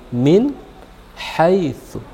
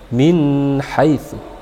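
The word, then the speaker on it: مِنْ حَيْثُ: bertemu dengan hak minhaisu Min haitsu jadi tidak dibaca min-height tapi kita baca min min haitsu karena dia dibaca Dibaca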